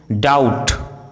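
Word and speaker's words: doubt: यदि किसी वर्ड में एस सी साथ में हो तो सी का उच्चारण साइलेंट होता है, जैसे scene, seizures, disciple, discipline, science, conscience, accent, fascinate, muscle.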